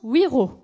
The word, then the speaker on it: Wiro: Pour ma part, je prononce Wiro.